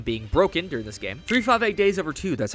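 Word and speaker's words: 358/2 Days: associated with them being broken during this game 3 58 days over two that's how you say it referring to how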